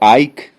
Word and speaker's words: Icke: He tenido la oportunidad de leer a David Icke, o Icke, así sí es la pronunciación, se escribe I-C-K-E, David o David Icke.